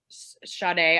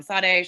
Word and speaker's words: Sade: music is awesome uh shade i always say her name wrong sade shade i love her